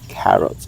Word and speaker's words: carrot: When you pronounce the carrots, so the K should be enunciated very well. It should have a puff of air like this. K carrot, okay?